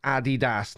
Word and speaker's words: Adidas: Adidas, pronounced Adidas, named after Adi Dassler. Maybe. I always just thought it was because Americans can't speak properly. Sorry, Americans, but in the UK, it's Adidas.